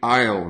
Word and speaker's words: aisle: to walk down the aisle now this careful here Isle has a silent s is not ISIL ion so to walk